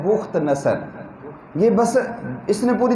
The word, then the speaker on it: بخت نصر: بخت نصر بھی ہے، لوگ اسے بخت نصر پڑھتے ہیں، یہ اصل جو اس کا تلفظ ہے وہ ہے بخت نصر۔ یہ بس اس نے